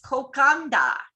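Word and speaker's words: kokoda: Any word with a D has an unwritten N in front of it. Nadi is pronounced Nandi, and the delightful cold marinated seafood dish kokada is kokanda.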